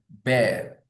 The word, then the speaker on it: bear: Okay, all my childhood I pronounce it beer. Beer. Beer means balu. But then as an adult I learned that we shouldn't pronounce this word as beer. We should pronounce it as bear.